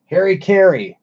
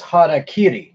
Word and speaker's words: harakiri: You know, over here we pronounce everything wrong all the time. Say harikiri. Well, that's it's harakiri.